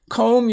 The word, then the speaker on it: comb: Notice you don't say climb, you just say climb, so the B is silent. Climb the hill. Comb your hair, C-O-M-B, comb.